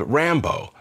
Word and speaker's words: Rambo: Back in the 90s, my friend Vitya, who we nicknamed Sylvester, don't ask, had a dog he called Rambo, stress on the first syllable.